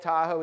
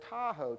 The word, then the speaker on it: Tahoe: ultimately people start hearing this word Tahoe tahoe from the Washoe Indians it really was it's doll is da and then Oh W and that meant big water deep water but the thing is phonetically it sounded like Tahoe and that was the